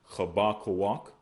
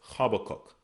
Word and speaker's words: Habakkuk: We have Habakkuk, which we pronounce as Chabakawak. Chabakawak. They pronounce as Habakkuk.